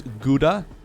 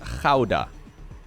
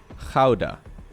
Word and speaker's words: Gouda: Americans will pronounce as Gouda? I mean, I know I've said this before in a video, but apparently it still boggles people's minds. So, this would be pronounced in Dutch as Gouda. Gouda.